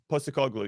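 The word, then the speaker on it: Postecoglou: feel like uh how do you say it post a call glue yes thank you for that he he uh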